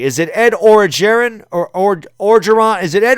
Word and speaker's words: Orgeron: Soft G. Okay, thank you. So it's Ed Orgeron.